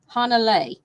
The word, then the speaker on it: Hanalei: Hanalei. Hanalei handbag.